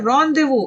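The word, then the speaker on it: rendezvous: रॉन्डेवू, इस word की pronunciation क्या है? रॉन्डेवू, आप इसको याद रखेंगे।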